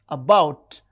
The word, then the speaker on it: about: paper and about about the second syllable is stressed.